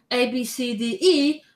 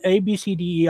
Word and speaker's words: Abcde: Okay, but Ramblings, what do you think then about the name ABCDE, which is pronounced very close to obesity?